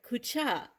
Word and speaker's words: Kutya: Today we are going to be making a great Ukrainian Christmas traditional dessert called Kutya. At least that's the way I grew up pronouncing it.